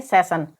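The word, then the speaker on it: session: एन आया है तो जब वर्ड में डबल एस आए और उसके बाद में आई ओ एन आए तो वहां पर एस का उच्चारण श होता है तो एस I double S आई ओ एन को हम यहां पर क्या पढ़ेंगे सेशन इसी प्रकार से आर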